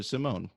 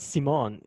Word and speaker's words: Simon: to pronounce your name it's not C Mon because you can't pronounce the French accent is small not C Mon you angle phone cannot do so Simon is better from Jersey take theirs